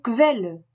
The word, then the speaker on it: Quelle: En début comme en milieu de mot, le QU allemand se prononce toujours comme un K français suivi d'un V. QV. Die Quelle, la source.